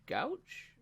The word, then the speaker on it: Gooch: keimer kevin nah graham mcdowell and taylor gooch gouche how do you say it gooch no taylor gooch okay you ain't heard taylor gooch i haven't